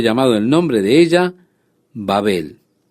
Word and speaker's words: Babel: Por esto fue llamado el nombre de ella Babel. O podemos pronunciar también Babel, como usted prefiera, como la palabra bárbaro.